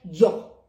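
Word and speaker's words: Ö: दूसरा हमारा है ओ, ओ के ऊपर 2 डॉट। तो ओ का उच्चारण वैसे ओ होता है लेकिन जब हम इसके ऊपर 2 डॉट्स लगा देते हैं तो इसका उच्चारण हो जाता है यो, यो, यो कहलाता है ओ के ऊपर उमलाउट लगने से।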